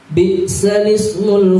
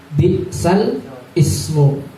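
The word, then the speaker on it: بئس الاسم: Cuman cara membacanya langsung seperti huruf sin itu menopang pada huruf lam atau seperti ditasjid huruf lam. Bi'salismu gitu. Bi'salismu. Ya, kalau yang asing bi'sal ismu. Itu langsung dimasukkan ke huruf lam.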